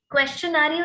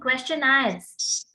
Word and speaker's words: questionnaire: क्वेश्चनारियो नहीं, क्वेश्चनायर्स, ठीक है। That is called क्वेश्चनायर्स। क्वेश्चनायर, okay, correct it's pronunciation.